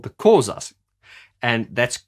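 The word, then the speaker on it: Xhosa: they were called the causas and that's that is spelt x-h-o-s-a and the way you say it is closer closer they are from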